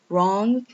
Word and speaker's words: wrong: I just skip the W and start from the R letter. Right. Then we have wrong.